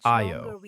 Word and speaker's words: Ayo: His name sounds like Ayo, two syllables, the second rising.